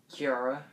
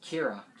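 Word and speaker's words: Qi'ra: And Kiara, or I'm pretty sure is how you say it. Feel like I'm saying it wrong. Kira is what I meant to say, sorry.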